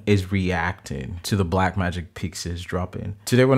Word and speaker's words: Pyxis: The first thing that I've learned is that it is pronounced as Pyxis, like Pixar, not Pyxis, like the way I called it.